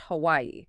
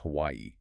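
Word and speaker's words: Hawaiʻi: It represents the glottal stop. You literally stop the airflow in your throat. So the name of the state is correctly pronounced Hawaii, with that stop between the IS.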